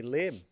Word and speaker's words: Lim: I go by Liam in life. Liam? Yeah, but like my parents named me Lim. Yeah. So I've anglicized my name, so it's easier to pronounce.